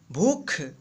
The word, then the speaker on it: भूख: देखिए भूख कैसे लिखेंगे, तो यहाँ पे देखिए भ में लंबा उच्चारण हो रहा है, यानी बड़ी ऊ की मात्रा, तो भू और यहाँ पे ख लिख देंगे, तो ये बन गया हमारा भूख।